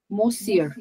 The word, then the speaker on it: monsieur: मोज्यूर, मोज्यूर, Monsieur, monsieur, M-O-N is mo, C, monsieur, monsieur. Okay, monsieur. Okay, Perfect, monsieur. perfect. That's correct. Thank you. All right, Monsieur.